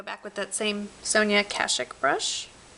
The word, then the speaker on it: Kashuk: with that same Sonia kashik brush I don't know why some people say kashuk but that to my knowledge is not how you pronounce it and I'm to stick